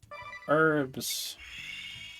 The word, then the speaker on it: herbs: But we have herbs. Still think it's up that you're supposed to pronounce it herbs instead of herbs.